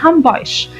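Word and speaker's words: Hamburg: لكن الألمان يعني كألمانيا بينطقوها نطق غلط، حتى جوه ألمانيا على فكرة بينطقوا الكلمة على حسب المنطقة، يعني هامبورغ مثلا على سبيل المثال المنطقة الشمالية بتقول عليها هامبويش، ما بتقولش عليها هامبورغ، بتقول عليها هامبويش. اللي تحت على طول المنطقة الوسطانية على طول يقولوا عليها هامبورغ.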